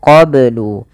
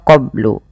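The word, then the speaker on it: قَبْلُ: Kemudian melafal qablu ini banyak harus dipantulkan karena ia ada bacaan qalqalah. Maka bacanya adalah min qablu. Kesalahan yang terjadi dalam membaca qalqalah tidak memantulkannya, contoh qablu atau menambahkan hamzah qablu.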